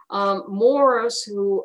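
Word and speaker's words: Morse: Morris, which is five miles west of Stanley at 151st in Quivira, it's spelled M-O-R-S-E because they didn't know how to spell Morris, the superintendent of the trains.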